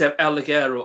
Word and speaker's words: El Ligero: How do you pronounce his name? It's El Ligero and Travis Banks.